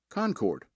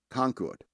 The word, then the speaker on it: Concord: count a country while North Carolinians pronounce the second syllable so it rhymes with Bard Concord New Hampshire Massachusetts